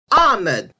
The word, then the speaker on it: Ahmad: But these names should be pronounced as Omar, not Omar, Ali, not Ali, and the name Ahmed should be Ahmed, because to me, anything close to the ah sound is hard to make in English pronunciation.